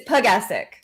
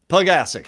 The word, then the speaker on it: Pugesek: It's Pugesek. Pugesek.